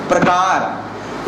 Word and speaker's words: प्रकार: रा का और रा, जब हम उसको अच्छे तरीके से उच्चारण करते हैं ना तो इसको बोलते हैं भैया प्रा, देखो प्रकार।